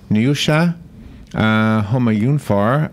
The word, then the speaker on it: Nioucha Homayoonfar: right now I'm gonna take a shot at pronouncing her name I probably will get it wrong neasha home are you far I'm gonna say she's on the phone Brooke